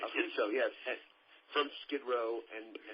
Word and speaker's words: Affuso: And Rob Affuso, right? I'm pronouncing that right. Right. Affuso, yes.